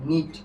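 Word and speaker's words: knit: এটার উচ্চারণ হবে কি? নিট।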